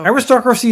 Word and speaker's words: aristocracy: Aristocracy is right, yes. The accent is on the O.